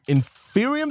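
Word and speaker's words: Inferium: need to first start by getting ourselves some in Furion seeds and that's how it's pronounced these guys right here there are six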